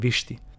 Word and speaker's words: Viṣṭi: Similar to Visti, but pronounced Viṣṭi.